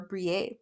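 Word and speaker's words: Briet: So, previously on the podcast, I was going over Brier that is spelled B R I E T. Again, it's a French name.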